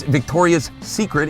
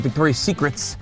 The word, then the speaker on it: Victoria's Secret: You should know how to pronounce the name. It's Victoria's Secret. It's not Victoria's Secrets. Have more than one secret.